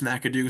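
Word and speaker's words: McIndoe: I know it's spelled with an IN, but it was pronounced Makadoo in the interview. He says it's Madoo, so I'm just going to trust him on this one.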